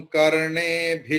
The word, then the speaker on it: कर्णेभिः: Here कर्णेभिः, after bhi there is visarga, but after that shrunuyama is there sha. So visarga's pronunciation will be transformed into shakara. भद्रं कर्णेभिः शृणुयाम देवाः।